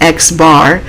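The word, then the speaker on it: x̄: bar on top and it's actually pronounced x bar that's going to be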